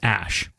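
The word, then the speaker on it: Æ: I mean, it's just X, the letter X, and then AE, it's pronounced Ash.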